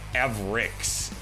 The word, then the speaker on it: Avrix: Oh, Avrix is the correct pronunciation.